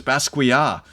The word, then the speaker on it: Basquiat: I've been correct on my pronunciation of Basquiat. And so, no, it's Basquiat.